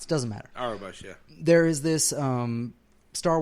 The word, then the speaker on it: Aurebesh: I don't know how to pronounce it. Doesn't matter. Aurebesh, yeah.